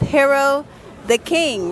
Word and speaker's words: Hero Da Kyng: literally in Times Squares with Video City with Hero the King, right? That's how you say it? Yep. Okay, we're here with Hero the King.